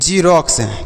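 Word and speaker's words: xerox: ई आर ओ एक्स तो बच्चों हम इसे पढ़ेंगे रोक्स क्या पढ़ेंगे रोक्स पढ़ेंगे यहां पर x को x नहीं पढ़ेंगे x को ज पढ़ेंगे x को x नहीं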